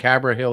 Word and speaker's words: Haverhill: Oh, I just said it, but it's not pronounced Northampton. It's Northampton. Just like Haverhill is Haverhill.